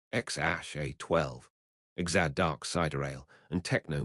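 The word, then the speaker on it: X Æ A-12: They had three children together, Xeromoman 12, pronounced Xash A12, Exad Dark Cider, and Techno Mechanicus.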